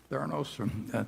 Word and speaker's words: Theranos: And Theranos, I think, is that the way you pronounce it, Charlie? Theranos?